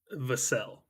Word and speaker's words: Vassell: According to Wikipedia, it is pronounced Vassell.